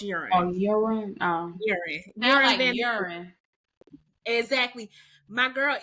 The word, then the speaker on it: Joran: I was calling him Joon Joe well in with names like that the J is pronounced as a y so it's Ur oh Ur oh exactly my